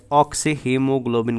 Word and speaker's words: oxyhaemoglobin: और इस कॉम्प्लेक्स को हम प्रोनाउंस कैसे करते हैं, एज ऑक्सी हीमोग्लोबिन करते हैं बेटा।